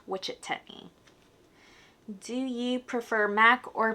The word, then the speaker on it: Wichetney: So, my name means lady who loves wisdom and it's actually pronounced in Kamai. If you spell it in Kai, it's pronounced witch techni.